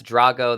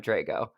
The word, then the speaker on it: Drago: your last name Dro I'm the Italian version but Rocky 4 is probably how most people know my last name that's Drago that's the Russian PR pronunciation but I'm Drago oh it's Drago okay